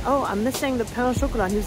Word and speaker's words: pain au chocolat: The guy kept saying, like, I ordered a pain au chocolat, and I'm French, so I know how to pronounce it. And the guy was like, peanut chocolat, peanut chocolat.